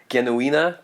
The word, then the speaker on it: Genuine: playing the role of genuine or genuina to use the German pronunciation is Fern Andra and